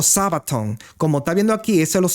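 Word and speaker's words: σάββατον: Y es esta, Sabatov o Sabaton. Como está viendo aquí, esos son los símbolos en griego como se usan, y su pronunciación Sabaton o Sabatov, que dice aquí de origen hebreo 7676.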